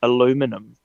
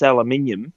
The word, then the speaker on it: aluminium: like can you say can you say um aluminum and i went well yes i said it's aluminium and they go hahaha and i said do you want to know why they called it aloe aluminum here in america and they said why i said because you can't say aluminium and they all shut up